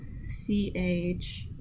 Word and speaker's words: chat: And by the way, cat is spelled C-H-A-T. Yes, chat. It's spelled chat. Sorry if my accent comes out. My apologies. But the so the CH makes a sh sound.